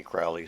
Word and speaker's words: Crowley: name is holy or his name is crowley and it rhymes with holy and he said something of that nature himself those who wish to re treat me fowley call me crowley so early it is